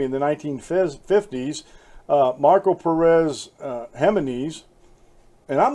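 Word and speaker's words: Jiménez: the 1950s Marco Perez hema knees and I'm not sure if I pronounced that right because I know that you pronounced the J's like H's like hold on or hay-zu's Hema knees so that's how I'm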